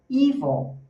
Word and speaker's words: evil: Olha a pronúncia. Ele tá falando pra gente que o estress tá na primeira, tá no e esse i ele é um i com energia. Então você fala evão, tá?